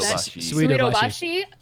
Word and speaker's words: Suidobashi: Suidobashi Heavy Suidobashi.